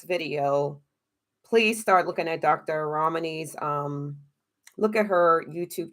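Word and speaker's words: Ramani: out dr romney's video her name is spelled r-a-m-r-a-m-a-n-i dr romini she's on youtube she also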